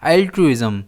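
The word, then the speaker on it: altruism: इसे हम प्रोनाउंस करते हैं एल्ट्रुइज्म। इसमें स्ट्रेस आई पर रहता है।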